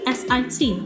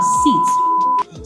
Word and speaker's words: sit: i t six sit a lot of persons pronounce that are seats so if you say you sit down I would be saying that I won't be thinking that you're talking about the nouns that's the seat itself whereas it's not what you mean the meaning is actually distorted because of your pronunciation so you say sit down sit down and not sit down so if you